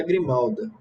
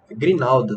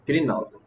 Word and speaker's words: grinalda: Grinalda, desculpa. Pronunciando errado aqui. Grinalda.